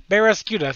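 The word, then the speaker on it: Barraskewda: And I cannot pronounce that one either very well. Barrascuda. Barrascuda, thank you.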